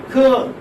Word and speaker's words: curl: Curl, for example, curl. Curl. Here you may have girl. Curl. How do you transcribe like this? Curl. R is not pronounced, okay, curl. But for your convenience, you